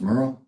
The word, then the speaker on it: Merrill: And my last name is pronounced Merurl. Oh, I'm sorry. Merl.